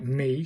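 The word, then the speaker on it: み: This one is pronounced M-I, but this is pronounced like me.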